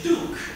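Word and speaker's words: Bouche: Once again, it is Duke with an emphasis on the ch.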